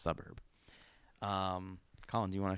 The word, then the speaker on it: SVBVRB: It's spelled with the U's are V's, so it's SVBVRB, pronounced Suburb.